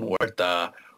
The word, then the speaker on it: Huerta: Corbin Huerta, that's how it's pronounced.